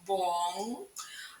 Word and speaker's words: bon: бо хороший Бон хороша Зверніть будь ласка увагу прикметнику чолові ому роді вимовляється з носовим звуком Бон а в жіночому роді з чистим звуком Бон у французькій мові дуже